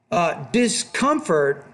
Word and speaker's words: discomfort: That's a word stress shift. Discomfort, not discomfort. So put the stress on that second, not the third syllable there.